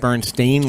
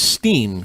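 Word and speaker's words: Berenstain: Bernstein, like a stain on your shirt. Yes. And what everybody remembers from back in the day is Steen, kind of like a Jewish name, Oh, like yeah.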